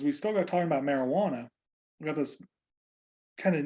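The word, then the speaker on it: Marihuana: 1937 by the marijuana you have to say it like that because it has an H in it not a j marijuana tax act later solidified by the controlled substance Controlled Substances Act of 1970.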